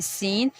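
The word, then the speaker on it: scene: अब यहाँ पे देखें सीन, यहाँ पे जो सी है वो साइलेंट गया, तो इस वजह से वर्ड की जो प्रोनाउंसिएशन हमारी सीन।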